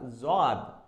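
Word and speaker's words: ضاد: Now coming to this one is swad, swad, Sad. There is no dot, and when there is dot, this is called nuqta in Arabic. So it's a zad, zad. So no dot, sad, zad, dot.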